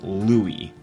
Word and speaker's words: Louis: his first name is Louie it's spelt like Louis but that's not how you pronounce it it's Louis Louis Armstrong